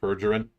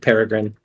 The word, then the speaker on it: Peregrine: Remember what happened with Pergerin? Yes, I do remember what happened with Peregrine.